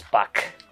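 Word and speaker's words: Buch: That's spelled B-U-C-H, by the way. Yeah, not B-U-K. I'm just pronouncing it properly as I can tell, because, you know, actually, it German. sounded like you said butt concern. Butt. Oh, I heard Nice. buck like a large deer. Yeah, that's how it sounds like, but it's spelled B-U-C-H. It's not butch, it's buck.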